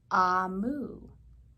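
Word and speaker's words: Omu: a note to the reader um it is pronounced amu and it is the igbo term for queen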